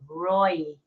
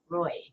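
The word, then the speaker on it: Ray: the room Roy it's spelled r a y but he he pronounces it Roy Roy welcome and he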